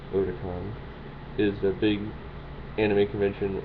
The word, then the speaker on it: Otakon: convention, which is Otakon, or it looks like Otakon, but it's actually pronounced Otakon, is a big anime convention on the East Coast.